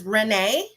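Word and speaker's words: Rayne: order uh we have it's spelled rain but it's Renee I'm like well that's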